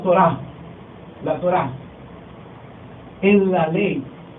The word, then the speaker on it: Torah: Y en el Antiguo Testamento encontramos ese conjunto de enseñanzas reveladas de parte de Dios en un vocablo hebreo que se pronuncia Torah, la Torah.